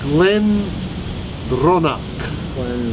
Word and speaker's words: Glendronach: How do you pronounce that? Glen Ronak.